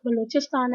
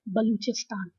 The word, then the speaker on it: Balochistan: but the other way it is also spelt as ba and juicy hie STM and is pronounced as both Balochistan and Balochistan both pronunciations are acceptable okay now the first